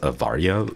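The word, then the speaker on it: Awaria: told me it was pronounced avaria but spelled with a W um yeah it smel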